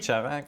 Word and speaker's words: Charac: Et puis, Charac, est-ce que je prononce? Oui. Charac.